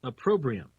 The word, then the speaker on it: opprobrium: internet the dictionary to find out how it's pronounced opprobrium opprobrium opprobrium it's a program anyway very interesting